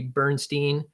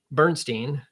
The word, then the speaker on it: Bernstein: ways spelling pronunciation I.E Bernstein Bernstein so one Stein and one's Steen also you should include any